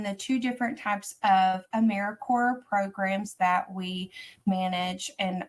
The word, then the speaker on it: AmeriCorps: little um picture but we do pronounce it Americorps so kind of like apple core Peace Corps um it's not a mirror corpse we are alive and well and so we just like